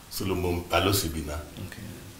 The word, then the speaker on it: Solomon Balosibina: My name is Solomon Balosibina. Okay. Proper pronunciation. Okay. Solomon Balosibina.